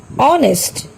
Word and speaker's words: honest: Hour, honor, honest, whistle, echo, rhyme, rhythm. তোমালোকে বাৰু অনুমান কৰিব পাৰিছানে এই শব্দবিলাকত কোনটো আখৰৰ উচ্চাৰণ উজ্জ হৈ আছে? Yes, in every word H is silent.